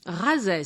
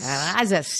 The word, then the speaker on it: Razès: Razès. Razès. How would you spell that?